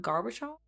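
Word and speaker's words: Gorbachev: Garbachov is how you say it in Russian. I don't know how to say how do you say it in English. Garb Garbachov put on a bit American accent there.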